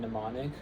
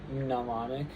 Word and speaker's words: mnemonic: Um and they are psychology, pterodactyl, and mnemonic. So, we just pretend in English we just pretend that those um that those um letters don't exist, but in Greek they were pronounced um as like psychology, pterodactyl, and mnemonic.